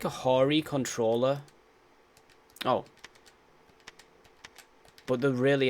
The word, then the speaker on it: Hori: No, it's a Japanese company, so it's pronounced Hori, not Huri. That's not how it's pronounced in Japanese.